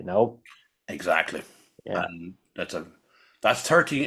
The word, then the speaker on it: XIII: And that's 13.